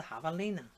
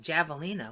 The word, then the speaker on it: javelina: here cuz you know when I first saw it I was like Java Lena what that but think of that